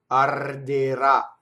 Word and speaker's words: arderà: The first R touches a D, so there's a rolled. Then the second one is in between two vowels, So it's flipped. Ra. Arderà. Notice that the stress is on the last syllable. Ultimate stress is rare in Italian. It does happen. In the future tense, in truncated words.